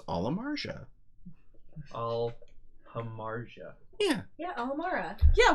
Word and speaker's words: Amarja: Look, I asked the designer on Twitter what the correct pronunciation of Amarja was, and he said it was Amarja.